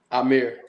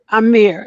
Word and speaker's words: Ihmir: I don't like mispronouncing. Amir. Amir.